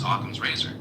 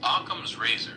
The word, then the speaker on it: Occam's razor: is the principle of parsimony, also known as Occam's razor.